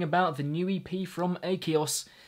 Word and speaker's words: Akeos: the new EP from a Kaos yes that is how you say it insomnia this is the